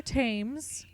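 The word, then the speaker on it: Thames: and he traveled by barge down the river tames which by the way I only ever learned how to pronounce that because of the show the tutors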